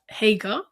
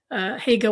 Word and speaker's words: Hagar: And what he brought his son Ishmael there with his mother Hagar. I think that's how you pronounce it in English. We call her Hajar.